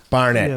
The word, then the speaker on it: Barnett: Barnett, yeah, Barnett.